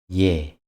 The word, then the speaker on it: 예: 예, 예. 예 is a modified form of the basic vowel 에. 예 is pronounced like the initial sound of word yeah.